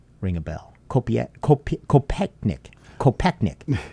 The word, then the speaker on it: Kopechnik: Does the name Julianne Kopieknik ring a bell? Kopechnik.